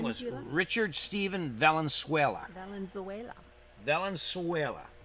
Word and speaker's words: Valenzuela: Valenzuela.